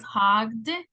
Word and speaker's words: hogged: This one is hogged, con D, and this one is wagged, okay?